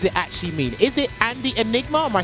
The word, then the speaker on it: Andyenigma: Andy, I'm reading your name a certain way, but I need you to tell me how to pronounce it and what does it actually mean. Is it Andy Enigma, or am I saying it wrong?